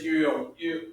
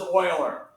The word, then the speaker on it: Euler: that's called euler notation even though it's spelled euler and we're hooked on phonics and we're american and how we are hooked in phonics should be how everybody pronounces their name in the world because it's e-u-l-e-r so we should say it's you you oh but if you're german um this is oiler this is oiler basically